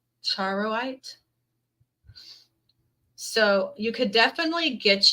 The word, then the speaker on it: charoite: Charoid?